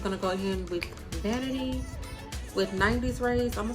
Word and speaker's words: Vanatei: brand is is pronounced vanity this is what the packaging looks like it's pronounced vanity and it's in the